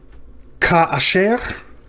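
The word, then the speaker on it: כַּאֲשֶׁר: So we've got a kaf with a dagesh lena at the beginning with a pathach under it. That aleph has a mark under it, so we know it's not a quiescent aleph. It doesn't close the syllable, so it's going to open a syllable. Ka, and then okay. So the first syllable is ka. The second one is ka, and then finally sher.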